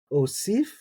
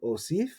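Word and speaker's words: אוֹסִיף: Here we have osif. Now, a lot of people will just leave that aleph silent and say osif.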